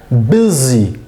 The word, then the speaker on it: busy: मिसाल के तौर पर ये वर्ड है बिज़ी, बिज़ी, U जो है वो I की साउंड दे रहा है, S जो है वो Z की साउंड दे रहा है, जबकि इसके स्पेलिंग इस तरह होने चाहिए BIZI, बिज़ी, बल्कि हैं BUSY।